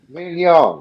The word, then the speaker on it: mignon: Mignon. It's filet mignon. Mignon. Mignon. So I'm saying that. Mignon. Do not pronounce the G.